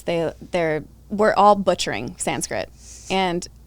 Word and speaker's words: Sanskrit: you know s-a-n-c sorry s-a-n-s-k-r-i-t and it's actually pronounced like sanskrita or something like that and so it's you